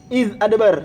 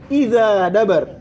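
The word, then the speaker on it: إذ أدبر: Seperti contohnya tadi, walaili id adbar. Kita baca gimana? Walaili id adbar. Berarti alifnya dikasih apa? Kapal hamzah di atasnya. Id adbar. A, ya kan? Tapi tadi kita baca lewat kumbul gimana? Walaili idza dabar. Walaili idza dabar. Berarti alifnya dikasih hamzah enggak? Enggak dikasih hamzah.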